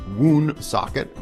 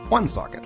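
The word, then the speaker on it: Woonsocket: socket is another one I thought it was wound socket but that is of course very very wrong and it's one socket or one socket Coventry this one I hear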